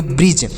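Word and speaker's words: bridge: से र आई से छोटी ई की मात्रा और डी का उच्चारण नहीं करेंगे जी ई से ज तो इसे पढ़ेंगे ब्रिज इसे ब्रिज नहीं ब्रिज पढ़ा जाएगा एच ईडी जी ई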